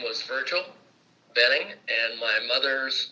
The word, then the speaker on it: Boehning: via phone with Richard boning who is in is it Lafayette Indiana well no uh it's Richard I pronounce it Benning that's B OE h